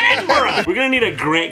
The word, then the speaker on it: Edinburgh: Edinburgh translator. Yeah. And you see, also, so somebody's like signing it, like in the bottom. You Americans say Edinburgh. It's not Borough.